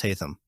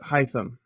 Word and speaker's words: Hytham: Yeah, and that's about it, other than Basim and, is it pronounced Hytham or is it still pronounced Hatham? No, it's Hytham. Okay. It's like Hytham.